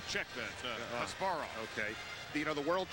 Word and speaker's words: Kasparov: And last week I heard Gary Gaspar, how do you say his name? Check that, Kasparov.